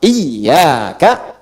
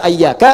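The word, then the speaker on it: إِيَّاكَ: Jadi ada juga yang baca pakai fathah ayak waak tapi tetap dalam bacaan salat dan bacaan Al-Qur'an dibacanya pakai kasrah. Iyaka, iyaka, iyaka. Jangan dibaca ayyaka, jangan dibaca hayyaka dalam salat ya kan. Dan jangan dibaca iyaka. Dibacanya apa? Iyaka.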